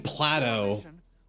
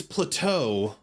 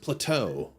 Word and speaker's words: plateau: And I'm like that's it's plateau. It's pronounced plateau. Plate. That makes it sound like a Greek phil. It makes it sound like the Greek philosopher, but it's plateau.